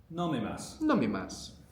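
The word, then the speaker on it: 飲みます: we have tabasimo nomass to drink. The mass part of the verb ends you, by the way, like this does, but we don't tend to pronounce it.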